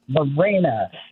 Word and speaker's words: Lena: do you say her first name Lena Gonzalez Lena yeah she got she got in trouble for